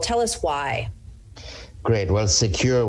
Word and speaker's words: Sekur: Well, Secure, which is spelled SEKUR, is our email and messaging application.